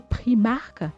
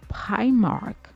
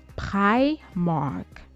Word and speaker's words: Primark: Cette marque se retrouve à se faire appeler Primark par les Français. Et la bonne prononciation, c'est plutôt Primark. Primark.